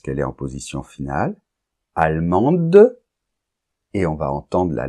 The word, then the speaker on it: allemand: et n argentin Argentine allemand on nentend pas la lettre D parce qu'elle est en position finale allemande et on va entendre